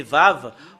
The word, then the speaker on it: ו: voilà la lettre V c'est vave ou c'est V qu'on le prononce c'est vraiment très très